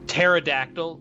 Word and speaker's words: pterodactyl: Pterodactyl, obviously, P silent.